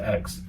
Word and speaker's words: Aix: spelled a iix but you just pronounce it X um and we finished